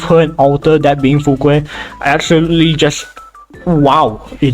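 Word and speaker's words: 符玄: Fukue or Fuke, I pronounce Fukue because she's Chinese and I thought that, okay, might as well just say it in Chinese.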